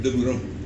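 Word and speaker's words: Deburau: Pero entonces los franceses pronunciaban de Bureau, ¿no?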